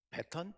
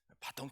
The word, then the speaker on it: baton: 오늘 설교 제목이 배턴 패스인데요. 말이 어렵죠. 이게 원래 그냥 바통 터치였어요. 바통 터치였는데 그거는 원래 조금 잘못된 표현이고 우리식 표현이고 콩글리시고 찾아보니까 배턴 패스가 맞대요. 바통은 이제 프랑스식 발음이고, 근데 제가 문서로 나가야